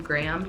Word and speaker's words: Graham: And obviously I have to add in the name Graham. Technically it's 2 syllables, but it is Lincoln's middle name, so I mean it sounds like one syllable to me, so that's my bonus name.